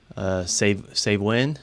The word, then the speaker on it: Samhain: Save Win, is that how you say it?